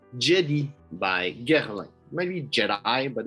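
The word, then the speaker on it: Djedi: to pronounce it but it's a french brand so i'm gonna pronounce it in french jedi by gerharlan maybe jedi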